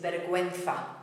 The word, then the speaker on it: vergüenza: Because if we've got a GUE or a GUI, it should be pronounced gi. And the way we do it is to put two little dots over the letter U. A nice word here is vergüenza.